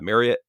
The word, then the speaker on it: Marriott: which apparently is uh marriott is how you say that like chariot um i don't know